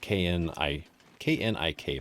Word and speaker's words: Knik: And through the Knik River, which is spelled K-N-I-K, by the way. If you want to have a lot of fun, there's actually a town in the area called Knik. So yeah, it's good luck trying